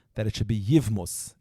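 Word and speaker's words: יבמות: Kempler, Zayin Gesund, once when he learned Mesechtes Yevamis, he said some people say that it should be Yivmus.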